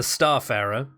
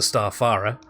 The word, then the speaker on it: Starfarer: let's move on to the Starfarer and not to be not to be mint mispronounced as the star Farah only it again that's